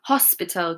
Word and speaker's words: hospital: Elmi, hospital, good. Hospital, it is not a silent H, hospital.